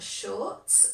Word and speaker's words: shorts: I've got shorts, so be careful with that pronunciation. You want to make a sh sound at the beginning, shorts.